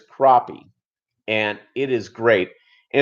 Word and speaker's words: crappie: eat crappie and now it's spelled like crappy but it's crappie and it is great